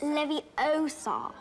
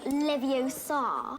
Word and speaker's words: Leviosa: iconic Wingardium Leviosa lesson you're saying it wrong it's Leviosa not Leviosa he only actually performs